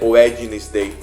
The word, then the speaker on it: Wednesday: viu que quarta-feira é wednesday esse desenho aqui ele é um de morto Tá certo vocês não vão pronunciar esse de Tá certo vocês vão